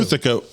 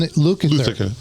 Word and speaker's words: Lukather: Luthica has been hired to I guess, Lukather. fill in Lukather.